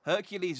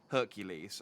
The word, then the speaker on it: Hercules: hercules is the roman pronunciation here isn't isn't heracles the greek pronunciation the hydra was the